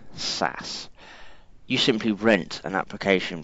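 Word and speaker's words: SaaS: a hands-off approach and software-as-a-service pronounced sass you simply rent an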